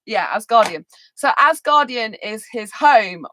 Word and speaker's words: Asgardian: potter or something um asgardian asgardian is how you pronounce it yeah asgardian so asgardian is his